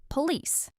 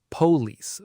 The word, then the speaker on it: police: Police. A lot of learners put the stress on the first part, police, but native speakers stress the second part, police.